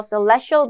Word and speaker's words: celestial: celestial이라고 발음하는데 강세가 중간에 있죠. body라는 걸 뒤에 많이 붙이기도 해서 celestial body라고 하면 천체라는 뜻입니다.